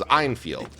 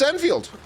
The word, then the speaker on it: Enfield: So, I thought everyone was mispronouncing it and the main character's name was Einfield. Like the Lee Einfield rifle. No, it's actually just Enfield.